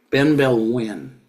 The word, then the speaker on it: Benebell Wen: win that's her name Ben Bell win b n e b e l l Ben Bell Ben B Bell if you wanted to sound it out in English but it's a Ben e b e l l and wi is Wen so this is very